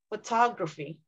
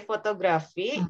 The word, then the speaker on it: photography: Photography. Because when you say we should put the stress in the middle of the word. When you say photography, that sounds Indonesian.